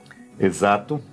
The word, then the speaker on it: exato: E com a letra Z, mas com a pronúncia do inglês, como se fosse um berra, um zumbido. Zzz. Exato.